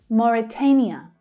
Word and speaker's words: Mauritania: Mauritania, Mauritania. So that stressed syllable there is the third, the A as in day vowel sound. Mauritania.